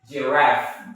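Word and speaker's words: giraffe: And the last is giraff. Giraff. Giraff. Giraff. Not Z, but J.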